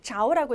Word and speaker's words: 着: 이때 여러분 요거 저라고 읽으시면 안 되는 거고 자오라고 읽으셔야 돼요.